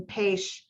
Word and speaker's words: Pécs: And so the WHO has a regional office, not in Budapest, but in Pécs, which is spelled P-E-C-S, which is a beautiful place.